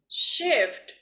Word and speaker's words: shift: Now, shift, okay? Shift. And ask her to work the night shift. Shift with the T, okay?